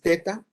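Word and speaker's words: theta: la cursiva, zeta, eta, este es teta, pero se pronuncia como la zeta española, zeta.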